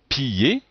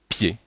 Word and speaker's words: pied: se prononcent ye, fille, ou même pied, puisqu'en fait ici on a le i et le e, mais on ne dit pas piller, mais on dit pied.